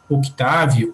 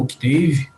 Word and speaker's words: Octave: Eu tenho exemplos aqui de como operar um programa que é free, que é chamado Octave ou Octave, né, conforme vocês preferirem a pronúncia em português ou inglês.